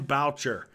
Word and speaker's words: Boucher: it's pronounced like voucher. Okay, Boucher.